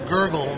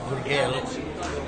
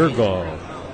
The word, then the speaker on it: Gurgle: Boxing out of the red corner from Arizona, Gurgala. Sorry, I want to pronounce everything like a Latin flavor on it. It's Gurgle, not Gurgale. Forgive me. Gurgle.